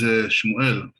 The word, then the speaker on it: Shmuel: Hello, my name is Shmuel. In English, it's Samuel, but that's actually not the correct way to say the name.